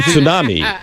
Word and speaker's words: tsunami: there are some journalists that are saying tsunami. Yeah. Tsunami. That's the way it's supposed to be. Let me hear you pronounced. say it. Say it again. Tsunami. Tsunami. Yeah, there's a T Tsunami.